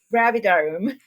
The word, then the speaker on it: Gravidarum: Gravidarum. Gravidarum. Okay. I have been spending pretty much forever trying to figure out the pronunciation, and I think I already forgot it,